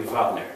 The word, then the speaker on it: Wagner: think maybe Germans too, pronounce the W as a V. Like Wagner would be Wagner.